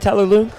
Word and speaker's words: Tyler Loong: effort put forth by Frank Anthony Davis and Tyler Loong. Tyler able to get that. We are ready and live right here for an interview with Tyler Loong. Am I saying that right, Tyler Loong?